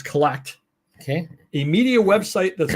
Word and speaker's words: CLLCT: He has launched CLLCT, which they pronounce collect.